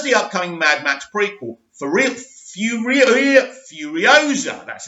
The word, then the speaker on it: Furiosa: As well as the upcoming Mad Max prequel, Furiosa, that's how you say it.